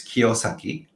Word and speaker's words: Kiyosaki: yeah, it's in Japanese it's Kiyosaki. That Kiyosaki.